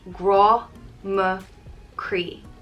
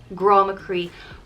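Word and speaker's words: grá mo chroí: of my heart and it's pronounced gro me cree grama cree gra is love and cree is heart it's used as a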